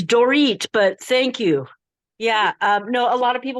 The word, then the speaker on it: Dorit: But yeah, it's spelled like Dorit, but it's pronounced like Doritos.